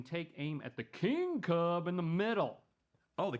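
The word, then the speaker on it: Kubb: I I'm just tasting nasty this one is pronounced cub two teams take turns tossing sticks at each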